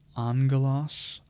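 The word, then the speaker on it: ἄγγελος: message basa is Kingdom Angelos again that has that gamma nasal where you see gamma gamma that's pronounced with the n Sound and a g Angelos curios Lord master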